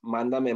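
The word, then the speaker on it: mándame: Another phrase here that we can see, it's pronounced mandame money. So it's kind of like English and Spanish, and it just means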